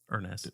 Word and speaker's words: Urness: Z or Z OE and then Ernest is you are an ESS so not exactly how would phonetically sound but that's earnest yeah earnest so definitely